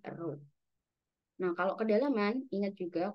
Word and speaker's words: rho: Ini mes jenis bacanya row.